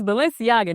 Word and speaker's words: Balenciaga: highend brands that everybody like when you cannot pronounce it like when I first seen Balenciaga listen how you say it it's it's Balenciaga now I don't know what I was saying